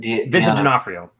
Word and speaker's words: D'Onofrio: Donofrio, I forget how you say his name, but Vincent D'Onofrio.